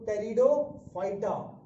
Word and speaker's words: Pteridophyta: Spelling जरा याद, spelling क्या प्रोनाउंसिएशन सीखो, इसमें पी साइलेंट होता है ना जब हम लोग पढ़ते हैं, तो टेरिडोफाइटा, PTERIDOPHYTA, टेरिडोफाइटा जो है इसको बोलेंगे।